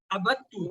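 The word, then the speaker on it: عبدت: ابدتا ابدتو تلفظ میں غور رہے, ابدتا ابدتو ابدتا ابدتو, ابدتا آپ نے عبادت کی, ابدتو میں نے عبادت کی. دال کی آواز ہی نہیں آئی ہے.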